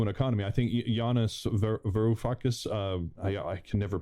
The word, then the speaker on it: Varoufakis: I think Yanis Varoufakis, I can never pronounce his last name. Right? Yanis Varoufakis. Varoufakis, that's it.